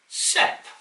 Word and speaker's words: CEP: There is no full stop in there between each space. It is a word with a vowel. Therefore, you can say it. CEP.